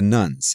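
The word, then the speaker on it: nones: Now for the religiously unaffiliated group, the nuns, as the research group calls it, which is spelled n o n e s.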